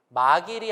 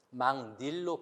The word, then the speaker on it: 막일: 그 다음에 니은이 들어간 다음에 막일이 아니고 니은이 들어간 다음에 망닐로 바꾸고.